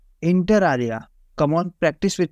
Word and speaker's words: inter alia: Hello friends, आज के word का प्रोनाउंसिएशन है इंटर आलिया। इंटर आलिया, come on practice with me friends.